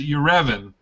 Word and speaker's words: Yerevan: It is Yerevan. Spell it.